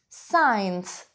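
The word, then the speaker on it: science: it is so young сайнс сайнс как вы слышите я также не произношу один звук и это саммит над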